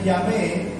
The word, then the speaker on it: Yahvé: que es la y H W H se pronuncia el nombre yahvé o el nombre pero los judíos cuando